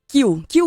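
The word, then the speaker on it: cue: Kill Bill é o seguinte, Tarantino, não, mentira. Kill, na verdade, é C-U-E, né, que a gente pronuncia kill.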